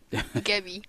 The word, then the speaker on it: Gebby: Is it a hard G or a soft G, do you think? Gebby or Jebby? What is it? Gebby. Gebby, yeah.